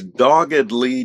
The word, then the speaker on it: doggedly: But if I said the hunter was doggedly determined to catch his prey, now that's an adverb, doggedly, but it still has that fully pronounced ed d.